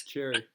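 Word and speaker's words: Xerri: Is that how you say it, boys? Cherry. Yeah, that sounds about right, yeah.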